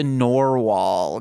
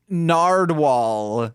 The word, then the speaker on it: narwhal: That's from another podcast that I recorded today, but I couldn't pronounce narwhal. I thought it was narwhal. Oh shit! I was saying it like Nardwal, and I was like, wait, Nardwal?